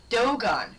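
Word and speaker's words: Dogon: I didn't look up the pronunciation, so I do not know if it's Doan or Don or Dogen. I've always heard go Doan. Doan. Okay, that makes sense. D O G O N. Doan.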